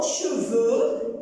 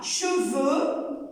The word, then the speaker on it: cheveux: Cheveux. Alors, ici, cheveux avec E-U-X. Le X du pluriel des noms ne se prononce pas.